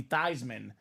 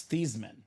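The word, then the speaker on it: Theismann: Heisman so they said let's change your last name pronunciation to be thyman so it can be thyman for the Heisman so his parents their last name is not Theisman it's thesman thean but his last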